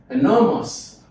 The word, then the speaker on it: enormous: Enormous. So the stress is on the second syllable from what we have said.